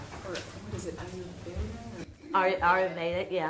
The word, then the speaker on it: Ayurveda: Ayurveda, yeah.